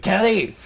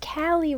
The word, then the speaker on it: Callie: Hey there, Kelly. What you doing? Get me out of this bag. It's pronounced Callie, Ryan. You should know this.